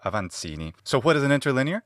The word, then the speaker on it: Avancini: I assume he's Italian, so I'm going to say his name in the Italian way. Alberto Aansini.